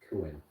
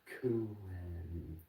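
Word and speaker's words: Kuehn: I just think of it as Kuin. Yeah. Like, I just pronounce it like that in my head because I'm like, that's how you spell it. So I'm going to pronounce it that way in my head. Exactly. Peter Kuin, because then I know how to spell it.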